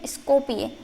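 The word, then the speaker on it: Skopje: देखिए यहाँ पे जे का ये है य, तो इसको प्रोनाउंस करेंगे स्कोपिये।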